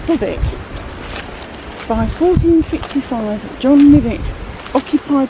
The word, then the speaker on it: Southwick: The limit family had moved here from their earlier estate at Southwick Northamptonshire probably pronounced sodic.